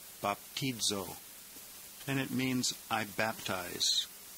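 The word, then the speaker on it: βαπτίζω: Omega this one is baptizo bapo the Zeta is pronounced almost like DZ in this word baptizo and it means I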